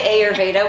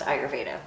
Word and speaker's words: Ayurveda: So I know a lot of people say Ayurveda, which you're not wrong, but it's mostly pronounced Ayurveda.